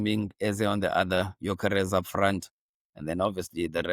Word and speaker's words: Gyökeres: You pronounce it. Of which surname? It's like I Gyökeres. said, Gyökeres.